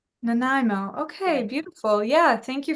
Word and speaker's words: Nanaimo: Pacific Gardens Pacific Gardens ah yes and it's pronounced Nimo Nimo okay beautiful yeah thank you for sharing I've